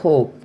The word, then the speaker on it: hope: Here, we are not pronouncing the E sound. Here, how the E sound end, although it is not pronounced, it is affecting the vowel sound before it. So, it makes it longer.